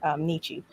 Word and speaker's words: Nietzsche: I'm trying to say his name right because I grew up with people saying Nietzsche. I think it's Nietzsche.